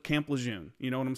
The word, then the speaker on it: Lejeune: a change, or like, it's actually pronounced Lejeune. It's John A. Lejeune.